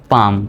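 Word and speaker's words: palm: তাহলে এল এর উচ্চারণটা সাইলেন্ট সি এল এম উচ্চারণটা হবে কাম পি এল এম পাম পালম নয় এল এম এস আম আলমস নয় আমস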